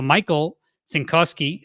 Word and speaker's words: Cinkowski: Well, so Michael Cinkowski, how he pronounced his name, he said that was